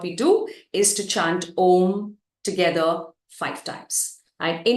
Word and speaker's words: Om: voice box right so when you chant om you inhale and as you exhale you chant with the three syllables that come together a o m a o is recited in the first half of your exhalation and the second half is M and when you say